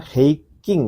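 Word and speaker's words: 平均: Ya, bacanya heiking ya, minasang. Jadi ini kanjinya bacanya heiking.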